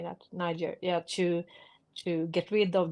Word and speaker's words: Niger: Niger, yeah, to get rid of the French and the Americans And the Swedes.